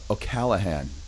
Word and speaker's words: O'Callaghan: the week, Miss Tanya O'allahan. Tanya, how are you? I'm good. You said it really well. Everybody always pronounces my name wrong.